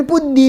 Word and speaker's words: ಬುದ್ಧಿ: ತಮಿಳರಾಗ ತದ್ಭವ ಮಾಡಬೇಕು ಪ್ರತಿಯೊಂದನ್ನು ತಮಿಳಿನಲ್ಲಿ ಈ ಪ್ರಶ್ನೆ ಬರುದಿಲ್ಲ ಬುದ್ಧಿ ಅಂತ ಹೇಳಬೇಕಾಗಿದ್ರೆ ಅವ ಬರೆಯುವುದು ಪುತ್ತಿ ಅಂತ ಉಚ್ಚರಿಸುವ ಏನು ಹೇಳ್ತಾನೆ ಬುದ್ಧಿ ಅಂತ ಉಚ್ಚರಿಸುತ್ತಾನೆ ಅದನ್ನ ಅವನಿಗ ದತ್ತದೆ ಅದು ನಮ್ಮ